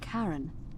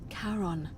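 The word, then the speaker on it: Charon: It's just as you described it, only your pronunciation is a little off. The name you heard wasn't Karen. It was C H A R O N. As in Karon, the fairyman of the dead.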